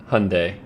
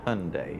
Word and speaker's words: Hyundai: No, how do you say it? Hyundai is how we say it. A Hyundai, yeah.